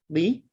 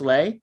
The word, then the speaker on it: Lee: again my name is lee i know it looks like it's pronounced lay it's not you can call me lay but that would be incorrect it's lee i just spell it